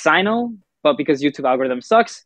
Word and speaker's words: Syno: It's Syno. So I've been mispronouncing it this entire time.